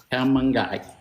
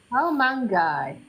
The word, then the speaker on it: Kaomangai: of the dish is called the C mangi how mangi how mangi so this is that I'm measuring for the